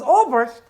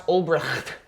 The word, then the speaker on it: Ulbricht: Yes, with Griffith versus, that's not a fair fight, versus Ulbricht, and I pronounce it like a German.